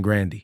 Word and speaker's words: Grande: we all be saying Grandy well my brother kind of changed it to Grande because like Randy was kind of like the like I guess Americanized version of it you know like made